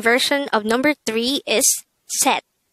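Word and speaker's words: 셋: pronounce it with me set if you would notice set is spelled with a say it character at the third position but take note that this is pronounced with a t sound first we need to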